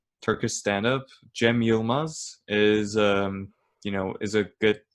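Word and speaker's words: Cem Yılmaz: guys want to check out like Turkish stand-up Jemima's is you know is a good good option and that's pronounced CEM why I L m AZ Yemen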